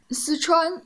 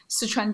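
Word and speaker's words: 四川: Sichuan is Sichuan province. Sichuan province, yeah. They make a lot of Sichuan dish.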